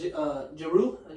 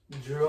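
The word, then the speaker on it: Jrue: He has Jeru, how you say it? Drew Holiday.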